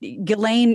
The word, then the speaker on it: Ghislaine: Adam and mark but ghilane Maxwell at least that's the way I've heard it pronounced through multiple podcast about Epstein she has been